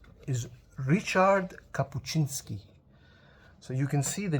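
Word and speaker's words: Ryszard Kapuściński: And when I hold it, I I pronounced it Rizard Capuchinski, but then Angelina very kindly corrected me and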